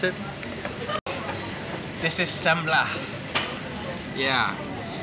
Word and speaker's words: semla: how did you pronounce it this is sambla yeah it's some sort of sweetened bread with